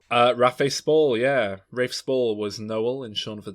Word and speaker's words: Rafe Spall: definite one plays proper characters in both films rafa spall uh raphael spall yeah rafe spall was noel and sean for dead and he